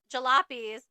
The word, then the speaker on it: jalopies: with with Saloon yes so another instance where Americans are kind of just mispronouncing things and they just said they nicknamed them jalap jalopies essentially after the fact that they were going to halapa so it's funny that